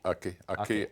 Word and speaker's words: Aké: And what shaped you were born in a Nigerian town called, how do you pronounce it? Ake? Ake, Abeokuta. I was born in Ake, the Ake sector of Abeokuta.